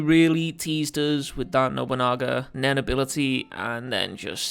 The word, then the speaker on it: Nobunaga: liked to have seen Nobunaga then ability also I've got to correct myself because in the previous Hunter Hunter review I absolutely butchered nobunaga's name here I called him no Bunga and I'm an idiot